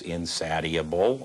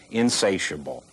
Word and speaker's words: Insatiable: only to Misty Beethoven this is insatable or if you want to care to pronounce it right insatiable it's Maryland's best film